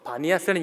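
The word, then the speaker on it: Banias: 그래서 지금 이름은 그곳이 파니아스라는 그 이름이 이제 아랍식 발음으로 바뀌어서 바니아스라는 이름을 갖게 되는데요.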